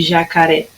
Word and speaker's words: jacaré: A sílaba que durou mais tempo foi o ré de jacaré, tá? Então, olha lá. A minha sílaba tônica na palavra jacaré é o ré.